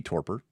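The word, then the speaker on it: torpor: mean it could be torper. I also could be wrong. No, I mean torper. Torper. Torper. Yeah, the Google Google Translate or Google pronunciation agrees. Torper.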